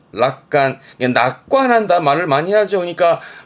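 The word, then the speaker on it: 楽観: 발음은 락간, 락간.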